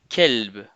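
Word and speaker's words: كلب: Par exemple, colbe qui veut dire cœur. Si j'utilise pas ces lettres de façon emphatique, je dirais kelb.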